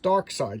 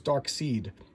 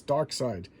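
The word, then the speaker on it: Darkseid: a pronunciation glossary it's a dark side is pronounced dark side because I remember people would tell me it was dark seed so there you go DC is telling me it's dark side damona demon demonia okay I was saying that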